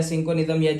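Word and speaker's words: cinchonism: अंदर भी पढ़ा था किंजो निज्म करवाती है ठीक है या सिंकोनिक्स प्रोनाउंस करते हैं आप लोग ठीक है उसके अंदर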